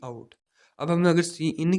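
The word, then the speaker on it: cin: तो इसको भी प्रोनाउंस ऐसे करेंगे, सी इन आउट की जगह पे हम यहाँ पे सी इन यूज़ कर लेते हैं कीवर्ड।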